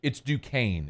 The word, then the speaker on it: Duquesne: It's Duquesne is how you say it. Oh. Duquesne, not Duquesne.